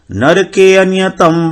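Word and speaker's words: नरकेऽनियतं: यहां पर अनियतम वासो अ जो है वो साइलेंट है बहुत। नरके अनियतम, नरके अनियतम, और अ को हमको जोड़ नहीं देना है, वो अपने आप आ जाएगा। नरके अनियतम वासो, नरके अनियतम ऐसे नहीं बोलना है, अ जो है बहुत साइलेंट रहेगा।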